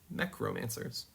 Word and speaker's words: Mechromancers: Um, and romancers like mech and romance. Mech romancers.